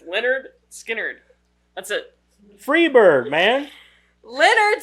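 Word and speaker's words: Lynyrd Skynyrd: Andy and pepper are on their way to lard skard leard lard skard Jesus Christ lyard skard lyard skard what I know it's spelled weird but it's Leonard skinnard that's it Freebird man Leonard skard even one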